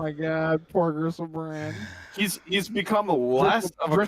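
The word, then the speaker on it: Griselbrand: That's not, you're pronouncing it wrong. It's Gristlebrand.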